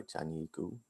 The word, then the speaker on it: Tianyi Gu: planning and it's going to be given by tanyiku i apologize if i've mispronounced that it's correct perfect great to hear yeah thank you okay um so so hello everyone my name is teiku and this is joint work with the wheeler